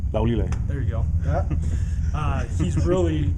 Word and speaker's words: Laulile: Laulile.